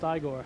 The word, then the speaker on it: Igor: brooker when the horses nay and winnie it's pronounced igor when the monster for the first time says